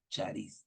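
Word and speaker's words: χάρις: allí claramente gracias Que Cómo se pronuncia en griego Sharis y no lo puse Cómo se escribe sino así se pronuncia chariz Gracias y mire Mire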